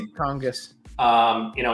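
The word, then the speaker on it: Tonges: Tongis.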